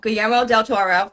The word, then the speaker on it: Guillermo del Toro: Made in 2015 by I always say it wrong. Guillermo del Toro. I try to say the L's, and you can't say the L's.